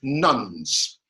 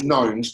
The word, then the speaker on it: nones: And so this is a definition of people that are called nuns. I usually pronounce knowns because otherwise it gets confused with the N-U-N-S's.